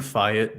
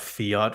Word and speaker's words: fiat: we by the way I'm saying fet not Fiat for a reason because that's the actual way it's pronounced I heard Adam I